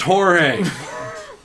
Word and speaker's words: Jorge: george don't call me my name is not george it is pronounced jorge captain america huh very